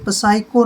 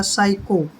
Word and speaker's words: psycho: अब जैसे next word है हमारा PSYCHO, ये पसाइको नहीं होता है, P साइलेंट रहेगा, S से पहले P आया है, ये बनेगा हमारा साइको।